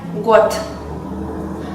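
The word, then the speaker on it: год: Por ejemplo, la palabra año, que en ruso es god y se escribe con una d sonora en el fin, pero se pronuncia got.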